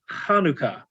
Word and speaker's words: Chanukkah: It's spelled so many different ways because it's representing letters that are not present in English, and it's really pronounced Chanukkah, like you're clearing your throat. It's a het, right?